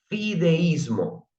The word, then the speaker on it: fideísmo: y que es el término fideísmo, con acento en la I.